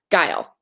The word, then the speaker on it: Guile: Oh, reminder that your name is pronounced like Kyle with a hard G. Guile.